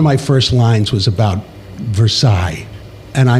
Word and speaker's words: Versace: So, one of my first lines was about Versace and I made the choice to pronounce it Versailles.